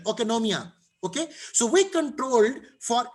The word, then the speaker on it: oikonomia: ओकेनोमिया, okay, it's a difficult pronunciation, oikonomia.